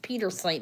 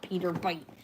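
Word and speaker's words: Pietersite: It's Peter sight, not Peter bite.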